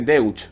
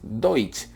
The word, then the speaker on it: Deutsch: Es Deutsch, pero la única complicación aquí es que hay gente que dice Deutsch. No es Deutsch, es Deutsch. La EU hace una OI.